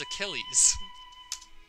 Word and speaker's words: Achilles: afraid we can't accept that pronunciation its Achilles I see the panic